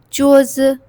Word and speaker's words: 桌子: It is usually pronounced with the neutral tone, so we pronounce it very lightly. 桌子.